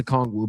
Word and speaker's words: Okongwu: I can't even pronounce it. Okongwu. I know it's Okongwu, but I can't say his first name.